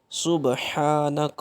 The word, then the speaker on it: سبحانک: ہیں اس کو سیکھیں گے کہ اس کے تلفظ کی ادائیگی کو کیسے ادا کرتے ہیں۔ سبحانک اللہم، یہاں پہ دیکھیں تو با کے اوپر